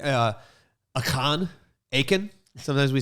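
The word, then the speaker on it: Achan: i it's like uh akan aiken sometimes we say aiken like clay aiken but it's really pronounced like akan okay now i'm picturing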